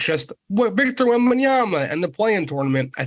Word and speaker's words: Wembanyama: If that storyline is looming larger, and it's just Victor Wembanyama and the play-in tournament, I think the league will be fine.